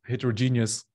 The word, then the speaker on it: heterogeneous: And so as in OKRs for heterogeneous teams, my personal in German you would say Eselsbrücke is that heterogeneous includes genius, which is I think kind of fitting for articulating what it is about.